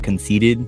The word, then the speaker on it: CNCTD: I go by Conceited. For short, it's spelled CNCTD.